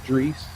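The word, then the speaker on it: Droese: Mantor, Duke Duke the Dumpster Drees. Oh, okay, that's how you pronounce that.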